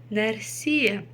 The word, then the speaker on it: нәрсе: Нәрсе. И ударение ставится обычно на последний слог.